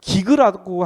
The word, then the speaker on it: gig: 원래 제대로 발음하면 기그라고 하더라고요. GIG로 돼 있어요.